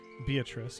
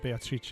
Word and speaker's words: Beatrice: That was Beatrice, or Beatrice, if you wanted to be very specific about the Italian pronunciation at the time.